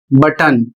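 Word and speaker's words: button: अगला शब्द है बी U double T ओ एन और इसका उच्चारण होता है बटन और इसकी हिंदी भी बटन।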